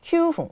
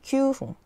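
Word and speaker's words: 九分: 그 다음에 9분은 큐풍, 쿠풍이 아니라 큐풍. 네.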